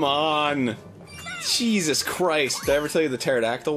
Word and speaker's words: pterodactyl: Jesus Christ everything the pterodactyl 1 No like why can't you hear a pterodactyl go to the bathroom why not because the P is silent oh yeah there's the